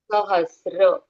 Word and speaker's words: सहस्र: okay यहां पर देखो स के अंदर ऐसी एक रेखा दी है एक लाइन दी है ऐसे तो वो त्र नहीं है नहीं है वो श्र है आधा स्र श्र त्र एस आर ए श्र ओके बहुत लोग इसको त्र पढ़ते हैं लेकिन वर्ड सहस्र